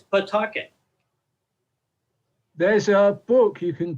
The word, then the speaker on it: Pawtucket: I live in Pawtucket, Rhode Island, and it's spelled Pawtucket, and everybody that's not from Pawtucket pronounces it Pawtucket. I actually looked it up in the dictionary to make sure I was saying it right, and you can say Pawtucket. Sure enough, it's Pawtucket.